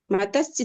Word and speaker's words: मत्स्य: मत्स्य म के बाद आधा त है आधा स है। दोनों को आप आधा ही बोलेंगे।